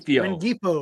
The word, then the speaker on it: Rengifo: Ringfingo? I never say his name. Right. Rengifo. There you go. Whatever. Rengifo.